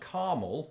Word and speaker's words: Carmel: big ones because there's a place in Indiana called Carmel we'll get on to that in just a second my pronunciation of this word is caramel yeah as is mine whoa but the place is caramel okay I've heard you